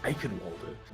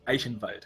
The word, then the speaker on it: Eichenwalde: I also think it's really funny how the announcer pronounces Eichenwalde as a true German. Nobody can do our pronunciations right. Eichenwald it is.